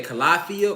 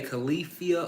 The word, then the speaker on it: Calafia: You can say Calafia, or you can say Calafia, or you can say Khalifa, like Wiz Khalifa. However you want to enunciate or pronounce the goddess name, but she was a real goddess that actually existed.